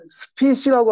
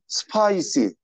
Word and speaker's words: spicy: 스피시라고 하시면 안 되고 spicy.